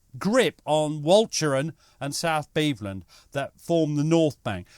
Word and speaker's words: Beveland: Beveland, you idiot.